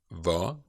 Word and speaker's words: hva: So, hva, remember the silent H in the first lecture. Hva, hvor, hvem, hvordan, hvorfor, hvilken, hvilke.